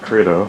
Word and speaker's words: Credo: Yeah, Ben, you use Credo? Yeah, I think it's pronounced Credo. Credo, thank you.